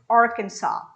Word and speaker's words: Arkansas: cannot explain in english what you hear is arkansas that's the correct pronunciation for this word talking about arkansas i